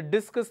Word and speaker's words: discus: For example, the discus thrower, discus, which means my first syllable, it's a noun, second syllable, it's a verb, discuss, let's discuss, and let's go to field to see some discus throw.